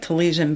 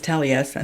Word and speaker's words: Taliesin: But It's like it looks like Talesian, but it's Taliesin.